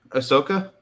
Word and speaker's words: Ahsoka: that's your cue am I saying it right Ahsoka Soca yeah I always say her name wrong I don't know why but but she's